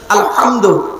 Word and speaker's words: আলহামদু: পড়ি আলহামদুলিল্লাহি রাব্বিল আলামিন আলহামদু এই গলার ভেতর থেকে হে এটা উচ্চারণ করবেন আলহামদু এর মানে হচ্ছে